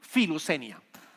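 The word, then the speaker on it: φιλοξενία: Pronunciamos filusenia.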